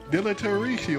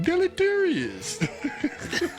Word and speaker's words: deleterious: Deleteratio. Oh gosh. I gotta learn how to say this shit all over. Deleterious. There you go. Deleterious.